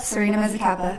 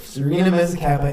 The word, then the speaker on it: Serena Mezzacappa: Yep, Serena Mezzacappa. Serena Mezzacappa.